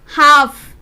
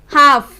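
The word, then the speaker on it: half: जैसे कि could, talk, हाफ। एफ से पहले हमारा जो लेटर है वो एल है और के से पहले भी, तो टॉक, हाफ।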